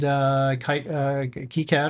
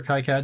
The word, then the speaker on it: KiCad: And KiCad or KiCad, depending on how you Free.